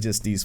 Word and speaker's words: Justice: Like, me and Eric got to arguing about how it's pronounced because it looks like Justice, but apparently it's just Justice.